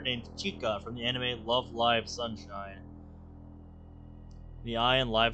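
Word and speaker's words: Love Live! Sunshine!!: chica from the anime love live sunshine the ey in live is pronounced like it's in the word alive I'm specifying because many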